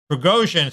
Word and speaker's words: Prigozhin: forces where I always mispronounce his name, so pronounce it correctly for me. Prigozhin sort of fancies himself now as an opposition to Putin, and he's basically gone almost all the way there.